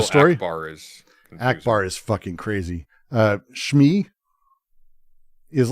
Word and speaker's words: Shmi: Shmi is like one of the most important characters in the series, and you're supposed to care about her. Shmi.